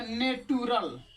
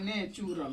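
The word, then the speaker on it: natural: अगर आप लोग से अभी पूछे तो आप लोग क्या बताइएगा इसको, तो आप लोग कहिएगा नेटुरल या नटुरल, जो कि बिल्कुल हो जाएगा गलत, क्योंकि टी के बाद यू आएगा तो च बोलेंगे।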